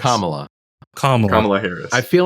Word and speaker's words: Kamala: what camea crazy comma am I saying it wrong is it Kamala or comma Kamala harrisa Kamala Harris Kamala Kam you're saying Kamala that's what Trump says he says Kamala it's Kamala yeah it's kamla Harris kamla kamla kamla Harris